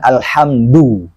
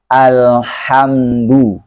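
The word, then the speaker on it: الْحَمْدُ: Dalnya pengucapan Al-Quran itu lembut. Tidak kasar, juga tidak dibaca tebal. Bukan alhamdu. Ya. Jadi, alhamdu.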